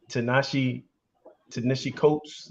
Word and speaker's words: Ta-Nehisi Coates: I just finished this book, Between the World and Me, by Ta-Nehisi Coates. I can't pronounce his name. Yeah. Ta-Nehisi Coates.